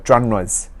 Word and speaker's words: genre: genres. genres는 제가 알기로는 프렌치에서 온 어휘인데요. 바로 여러의 영역이라든지 한마디로 그냥 장르죠. 장르라고 발음하면 안 되고 pronunciation, genre 반드시 외워두시고요.